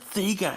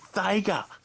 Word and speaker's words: Sega: It's not Sega, it's Sega. You know what? I don't give a shit. That's how we Aussies pronounce it. We don't pronounce it that way. That's all it is.